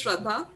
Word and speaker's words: Shraddha: all yours welcome hi sierra so as you pronounce it well my name is shraddha i am professionally a forensic scientist i have